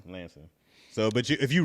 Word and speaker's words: Lansing: Deeds we don't ever say like I'm from Lansing but you'll hear me say Lansing yeah I never heard of the place until you said it and I only said how you said yeah Lansing Lansing so but you if you read it you'll